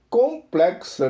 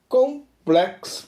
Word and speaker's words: complex: quite Complex é bastante complexa né De novo adjetivo Complex para americanos Complex para o restante do planeta que tem um padrão britânico sílaba tônica no Plex para americanos beleza é a traduzido